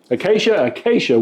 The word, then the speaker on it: acacia: Tanya, how do you pronounce that? Acacia wood.